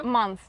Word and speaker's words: month: pronounce that sound correctly you need to put your tongue like on your up teeth examp say month month months month yeah